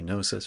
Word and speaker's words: Gnosis: Garrett, so Gnosis, G Gnosis, right? Kind of yeah, works, yeah. except for it's a silent G, and so it's really bad for business.